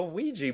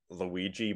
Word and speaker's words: Ouija: shared that I forgot I just remembered the funny pronunciations I forgot all the weird questions like how do you burn Luigi board how do you burn oeg board like people needed to